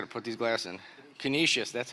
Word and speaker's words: Canisius: class I got to put these glass in Canisius that's how you say it Canisius and the fourth one is Richmond Virginia so